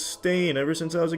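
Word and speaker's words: Berenstain: it you silly Sailors it's always been Baron stain not Baron Ste Ste everyone every everyone every they all want to pronounce it Steen but it's stain ever since I was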